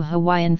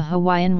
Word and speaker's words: Hawaii: pule, buel, pure, and buer, the word is spelled only as pule. However, hundreds of words were very rapidly borrowed into Hawaiian from English, Greek, Hebrew, Latin, and Syriac.